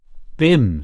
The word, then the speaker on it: Bim: and malankov's eyebrows Rose your beam is that how you pronounce it Bim said the other b i m Christian name Cherry Cherry